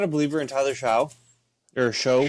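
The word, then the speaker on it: Shough: a believer in Tyler Sha or show, whatever you want. Shock. Shock. Yep. It's not spelled like it, but the the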